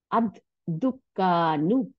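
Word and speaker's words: الدُّكَّانُ: হ্যাঁ, আর আল যদি না থাকতো তাহলে এটার উচ্চারণটা কি হতো? দুকানু। অ্যাকচুয়ালি দুকানুন হতো। দালের উপরে পেশ, কাফের উপরে সাদ্দা দিয়ে জবর, আর নুনের উপর দুই পেশ, এইটা হইতো আল না থাকলে দুকানুন। কিন্তু আল দেওয়াতে আদ, আদ দুকানু হয়ে গেল, দ্য শপ।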